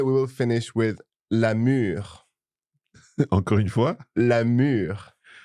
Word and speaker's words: mûre: get mixed up with le mur, which is the wall. The wall. It doesn't have an accent or an E, but it's pronounced the same. Très bien, très bien.